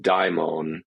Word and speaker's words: daimon: So that is the old transliteration of the Latin transliteration of the Greek, which preserves the original diphthong die in daimon, as opposed to what we, the English version of this demon is downstream of it.